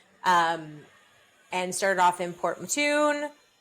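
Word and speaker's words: Port Mouton: Um, and started off in Port Matun. It's so weird cuz it's not that's just how they pronounce it, but it's it's spelled Port Mong.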